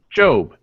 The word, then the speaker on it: Gob: Job. His name is Job. It's Gob. Job. It's spelled Gob. We pronounce it Job.